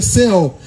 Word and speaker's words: Seol: Seol, traduzindo para o português, falando em português, a pronúncia é Seol, mas em hebraico é um pouco diferente.